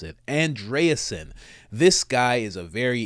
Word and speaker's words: Andreessen: Joe Rogan and Mark andreasen that's how you pronounce it andreasen this guy is a very in eccentric billionaire